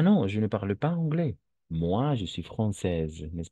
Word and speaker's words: anglais: AI, toujours E en français. AI, toujours, on va prononcer comme un E.